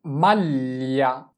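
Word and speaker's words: maglia: এরপরে মাল্লিয়া, মাল্লিয়া, মাল্লিয়া মানে হচ্ছে সোয়েটার। এম এ আ এল এ, মাল, এল ই আ লিয়া, মাল্লি। আমরা এখানে জি এর উচ্চারণটা এল এ ধরে করতেছি।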